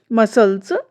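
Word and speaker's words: muscles: जब एस के तुरंत बाद सी आता है तो अक्सर सी जो हमारा है वो साइलेंट हो जाता है। एग्जाम्पल देखिए, मसल्स, शाइन्स, सीन, सेंट।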